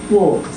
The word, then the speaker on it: walked: Walked. Is it a T, a D? And who thinks it's a T?